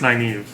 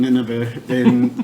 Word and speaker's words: Nynaeve: I think it's Nynaeve. Yeah. And then Austin kept on saying Nineveh, but whatever.